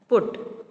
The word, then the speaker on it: put: Bud, cut, hut, jug, mug, nut, put. Okay, students, ये put पट नहीं है, it is called its pronunciation is put.